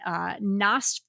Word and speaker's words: Nosferatu: I can't even pronounce it. I haven't had it. Nosferatu. Nosferatu.